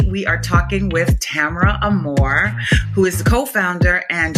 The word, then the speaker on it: Armour: Pronounce Amore. Um, my husband is a New Orleian. Um, so his French Creole last name pronunciation, but Armore Amore just depends on where you come from, how you pronounce it.